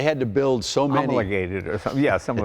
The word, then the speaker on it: homologated: well, I the keep H is silent. It's H-O-M. Right. They had to build so many. Homologated or something.